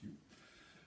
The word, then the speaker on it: いふ: Yu today would be written with E-U, means to speak, and in the old days it was E-Fu, although it's still pronounced Yu.